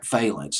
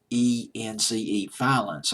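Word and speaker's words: Vallance: another person in conjunction with Bryan Adams, Jim Valence. It's Valence, Valence, I believe is how you pronounce his name, Jim Valence.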